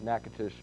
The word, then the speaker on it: Natchitoches: Wynn, Natchitoches, last night I mispronounced Natchitoches Parish, and a lot of people from Louisiana called up and let me know about it.